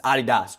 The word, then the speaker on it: Adidas: It's Adidas, Gino.